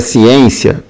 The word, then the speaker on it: ciência: E a palavra ciência você tem o seguinte aqui, ó, ciência. Essa sílaba aqui é a sílaba tônica. Essa sílaba tônica, ela é a penúltima.